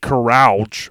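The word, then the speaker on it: Kralj: owners before ending up with Nick carge I believe is how you say it k r a LJ so for the rest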